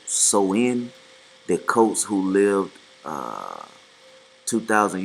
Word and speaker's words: Samhain: Um, it said Halloween original dates back to the ancient Celtic festival or Samhain, pronounced Soin.